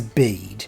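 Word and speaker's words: Bede: coat who scouts that his name is bead it rhymes with concede which they should all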